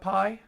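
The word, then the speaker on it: π: the first hundred and forty four digits of pi they add up to 666 the number of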